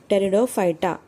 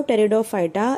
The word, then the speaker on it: टेरिडोफाइटा: vascular plants में आएगा टेरिडोफाइटा इसमें जो पी है the first letter is पी पी is silent over here so टेरिडोफाइटा it includes what it